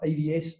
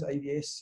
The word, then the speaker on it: AVeS: So it's pronounced AVS, the E is silent, AVS, cybersecurity.